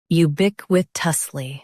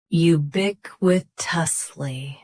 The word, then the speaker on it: ubiquitously: Ubick with tusly. Both US and UK have the same pronunciation of this word. Stress bick. Keep wi and tuss light. You bick with tusly.